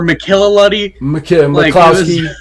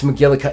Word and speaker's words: McGillicuddy: It was not McCuddy, a hard name. Or McKillaluddy. McClowski. I'm like, dude, it's McGillicuddy. It's not that hard. It's 5 syllables.